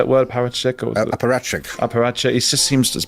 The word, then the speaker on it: apparatchik: What the hell is it sort of a robot, a kind of a paratchik? How do you say that word? Paratchik? Apparatchik.